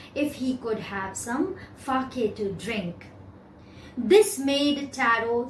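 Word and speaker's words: sake: had a cup of fake." The pronunciation is fake. It's given here. It's a Japanese word and SA is pronounced like FA in father and KE rhymes with way.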